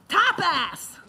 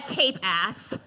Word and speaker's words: tapas: It's pronounced tapas. How dare you? You are a tape ass.